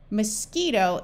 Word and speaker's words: mosquito: end are all silent mosquito is not French so there are no silent letters I hope you found